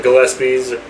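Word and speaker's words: Gillespie's: to talk about uh Gillespies gpies however it's pronounced I say Gillespie yeah I know if you look at the spelling it looks more like the lisp right but it's just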